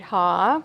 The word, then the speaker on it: Haugh: So I'm Haugh, which is kind of like hee-haw if you're trying to find out how to pronounce that.